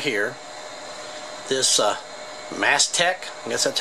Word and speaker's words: Mastech: to evaluate actually this device right here this mast tech yes that's how you say it Ms 5308